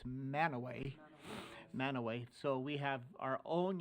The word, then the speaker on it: Mantua: When you get to Cache County, it's not Mantua, it's Manaway.